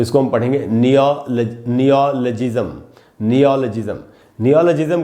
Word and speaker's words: neologism: नियो में जो अ है उसी पर स्ट्रेस है, वहाँ आपको ज़्यादा रुकना चाहिए। उसके बाद नियो के बाद ल के बाद आधा अ है, ल पर थोड़ा